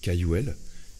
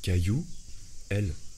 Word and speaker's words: Cayouel: famille je m'appelle cayouel et quand j'étais gosse plupart de mes instits ou des gens ne savaient pas prononcer mon nom de famille et je leur disais mais c'est simple c'est caillou elle et caillou ça faisait